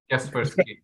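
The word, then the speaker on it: Kaspersky: एक जो है ना क्रिस्प्रास्की, क्या कहते हैं उसको, हाउ डू you pronounce it, क्रिस्प्रास्की, कैस्पर्सकी।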